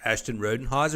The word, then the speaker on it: Ashton Rodenhiser: pretend that that lovely picture was Ashton rodenhiser Ashton rodenhiser is that the correct pronunciation you got it I'm impressed good job